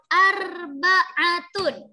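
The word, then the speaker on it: أربعة: Angka 4 itu adalah arba'atun. Arba'atun. Oke, arba'atun 4. Oke, huruf yang pertama, perhatikan Bu Ana, huruf yang pertama adalah alif, jadi A. Kemudian huruf terakhir itu hurufnya ain, jadi bacanya harus arba'atun.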